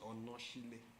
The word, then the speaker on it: Onashile: Spelled Onashile. Okay, this is Onashile. Yeah. But it's pronounced Onoshile. Onoshile. In my language, yes.